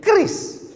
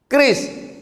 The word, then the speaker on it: QRIS: Cara bacanya gimana sebetulnya? Kris. Q-nya quick. Quick artinya cepat. R-nya response. Kris. Quick response code.